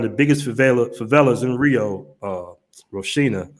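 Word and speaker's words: Rocinha: Now, this German dude just pulled up to one of the biggest favelas in Rio, Roshina, is how you pronounce it.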